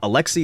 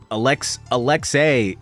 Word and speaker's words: Alexei: Alexei is one way to pronounce it, but Alexei is also a very widely accepted way to pronounce that name. You can pronounce it either way.